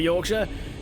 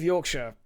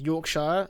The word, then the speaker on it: Yorkshire: Um, speaking of Yorkshire, I heard someone call what I call pronounce it as Yorkshire, like the Shire from Lord of the Rings.